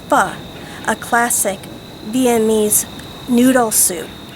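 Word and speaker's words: Pho: Why not make Fu, spelled P H O, pronounced Fu.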